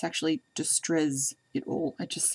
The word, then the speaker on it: Distrezz-It-All: so it's byzata and it's pronounced well i pronounce it just stress it all but it's actually distress it all it just sounds a bit strange to say